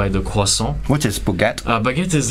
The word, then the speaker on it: croissant: The way we pronounce the R is completely different than English, for example. So how do you do it? Okay, let's say croissant. It's croissant. So we pronounce croissant.